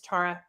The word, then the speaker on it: Tara: Tara Hi hi Tara I know Americans always say my name Tara but it's it's Tara and you're not Tara